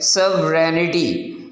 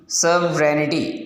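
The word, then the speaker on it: sovereignty: सवरेनिटी इस word को इसकी प्रोनाउंसिएशन यूँ है सवरेनिटी, सवरेनिटी, इसमें क्या है, जो जी है वो साइलेंट है, उसको तो बिल्कुल उसका साउंड नहीं पढ़ेंगे।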